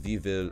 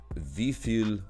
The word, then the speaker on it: wie viel: Is wie viel? Fuck! Wie viel? Also, your V's are F's.